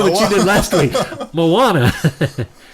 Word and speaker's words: Moana: she did last week Moana Disney's Moana or Mona some people have pronounced it Mona uh did you take